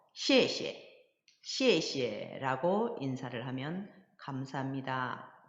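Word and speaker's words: 谢谢: 자세히 이해할 수 있을 거에요 자 그래서 경성 발음으로 씨에 씨에 시에 라고 인사를 하면 감사합니다 고맙습니다 라는 표현이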